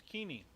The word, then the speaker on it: Keeney: Wait, Keeney, isn't it Keeney? It's Keeney. Keeney, yeah. What did I say? Can I? No, Keeney. Keeney. Keeney. Okay. Keeney. Keeney, yeah, Keeney. You pronounce it Keeney?